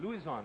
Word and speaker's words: Luzon: Oh, I have Quezon. Luzon it's pronounced.